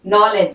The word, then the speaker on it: knee: ठीक है, के साइलेंट, नॉलेज।